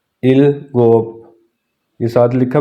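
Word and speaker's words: 일곱: सिक्स को पढ़ेंगे युत और सेवन को पढ़ेंगे इल गोप इल गोप येय साथ लिखा भी इ गोप फिर उसके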